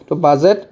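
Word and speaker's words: budget: জাজমেন্ট জাসম্যানডির পিছ কি আছে জি আছে ডিট সাইলেন্ট থাকি জাজমেন্ট হয়ে যাব বাজেট আর ব্রিজ মনে রাখিবা তোমাকে আজ প সাইলেন্ট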